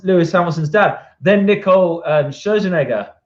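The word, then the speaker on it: Scherzinger: Then Nicole Scherzenegger, I think that's how you say it. I always get it wrong. I always call it Schwarzenegger.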